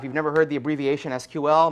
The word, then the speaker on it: SQL: never heard the abbreviation SQL most people pronounce it SQL although I believe technically that is not correct uh is the query